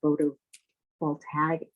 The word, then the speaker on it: photovoltaic: All means of shutting down the photovoltaic.